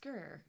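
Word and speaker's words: Skyr: it's pronounced skur.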